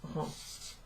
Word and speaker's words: rend: The third one doesn't have an S at the end, but it's also pronounced rend.